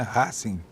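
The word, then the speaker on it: Racing: Riverplate, Boca Júniors e Rassing. E a pronúncia é uma pronúncia latina mesmo, né? Rassing.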